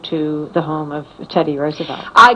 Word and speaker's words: Roosevelt: She said that, Roosevelt it's pronounced, had promised everything to labor.